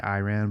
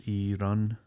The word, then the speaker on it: Iran: I know in America we say Iran, but I know it's not Iran, it's Iran.